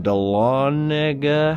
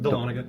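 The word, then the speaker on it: Dahlonega: Oh, then see there's all these like little things like here's a Bigfoot story called Horror in Donga. How do you say that? Delana. Delana, Georgia over there.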